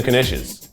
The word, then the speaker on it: knish: time to clean the knishes maybe just dishes is sometimes the K is pronounced I feel like in